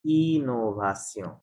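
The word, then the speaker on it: innovation: Right তখন এখানে উচ্চারণ হবে ইনোভাসিয়ন।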